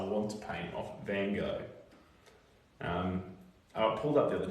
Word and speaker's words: Gogh: how fast I want to paint off Van Gogh. I pulled up the other day, actually, Van Gogh. I say Van Gogh, that's the American way of saying Van Gogh. Van Gogh, and then Van Gogh is British or UK or something.